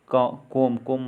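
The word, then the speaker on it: comb: तो B silent वाले words देखते हैं। तो इसमें है कोम मतलब कंघा। लैम्प, मेमना। थम, अंगूठा।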